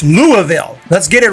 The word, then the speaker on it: Louisville: And I feel like more often than not, people say Louisville, but hey, it's Louisville.